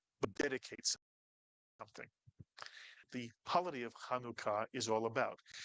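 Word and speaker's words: Chanukah: Kaneka Kanuka. The actual way to pronounce this word if you're saying it in Hebrew is kanuka. Kanuka kanuka. Kanuka. Two syllable word. Just two.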